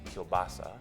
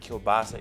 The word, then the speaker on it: kielbasa: And I started doing a little research, and apparently Kolbassa is the Polish version, and kubasa is the Ukrainian version. And so in Manitoba, the dish was brought by the Ukrainians. And because in Ukraine they don't use the same letters we use, that it got translated a different way.